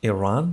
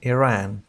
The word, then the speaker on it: Iran: كلمة إيران يمكن نطقها إيران بالنطق البريطاني أو إيران بالنطق الأمريكي.